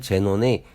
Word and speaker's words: Xenon: 그리고 XENON은 제논이라고 읽는데 알파벳 X는 읽은 제논의 제일 앞의 자음 지읒으로 발음하였고, 그리고 회사명이긴 하지만 저와는 아무런 관계가 없음을 말씀드리며 주위에서 흔하게 볼 수 있는 단어로 XEROX, 제록스가 있습니다.